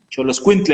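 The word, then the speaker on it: Xoloitzcuintle: Bueno, ¿Cómo se pronuncia? Solo Xolo Escuintle, Solo Xoloscuintle, Quintle. Bien, bien. Xoloscuintle, el perro azteca o perro mexicano, Bien, bien.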